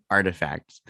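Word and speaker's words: RTFKT: check it out more that's artifact spelled the hipster way without any vowels it's capital r t f k t yeah you might i remember some people were like okay how do you say this it's like artifact okay so yeah um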